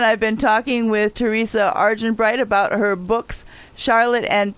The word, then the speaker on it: Argenbright: Argenbright is exactly as it sounds. Just you can do it phonetically and you'll get there.